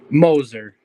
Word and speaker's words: Moser: in here and so moer or Moser which is it Moser Moser I I know people with that name that I've got I've heard both pronunciations so oh really so